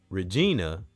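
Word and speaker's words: Reginae: Lil Wayne's daughter, Regina, I think that's how you say her name. R E G I N A E.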